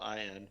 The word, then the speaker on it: Allin: Darby I don't know that I Allin. ever cared to Oh, look that I up. spelled it wrong. But so I spelled it Allen, like Tim Allen. It's apparently Allen, Allin.